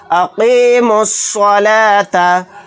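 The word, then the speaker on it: أَقِيمُوا الصَّلَاةَ: तो यहाँ पर अलिफ और लाम दोनों को साइलेंट करेंगे, मीम को डायरेक्ट स्वाद के साथ मिलाकर पढ़ेंगे। अक़ीमुस्सलाता।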